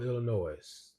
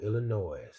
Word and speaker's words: Illinois: Michael re Hospital Chicago Illinois Chicago Illinois I hate when people pronounce the S on Illinois because the S is